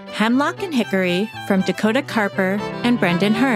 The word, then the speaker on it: Karper: with Dakota Carper Dakota Carper is a fiddler and oldtime musician from cap and Bridge West Virginia oh did I say it right bridge that is correct she grew up in